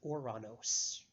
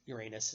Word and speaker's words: Ouranos: name of the planet which you probably the mispronounced in your whole life too is Ouranos and the old greek spelling of that was oh you are a n OS or of course Uranus is the spell you I'm the pronunciation you